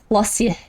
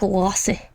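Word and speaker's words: Klaasje: Oh, classy is spel is pronounced lossy. Like lossy.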